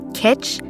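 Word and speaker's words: kitsch: It's editing Meg and it is actually pronounced kit and it is art objects or design considered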